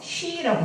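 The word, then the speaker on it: щи: 쉬라고 합니다. 러시아 말로 쉬. 쉬 발음이 좀 그렇죠? 네, 이게 쉬예요.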